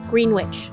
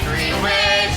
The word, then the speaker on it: Greenwich: Jaliek had allegedly been, Greenwich, New York. It's Greenwich, not Greenwich. Say it phonetically.